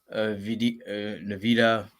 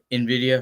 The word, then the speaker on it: Nvidia: Navita. I may be saying it wrong, but yeah, It's I would just hold Nvidia. off. Nvidia.